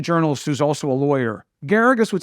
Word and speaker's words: Geragos: Geragos rhymes with asparagus was the first lawyer